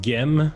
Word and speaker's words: Gem: Ça se prononce Gem, excuse-moi.